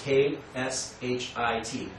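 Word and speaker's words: क्षिति: And the Sanskrit word for earth is K-S-H-I-T, right? Kshit. But the K is silent.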